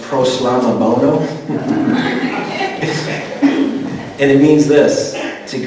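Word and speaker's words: προσλαμβάνω: And that word accept, in the Greek, it's pronounced proslamabono.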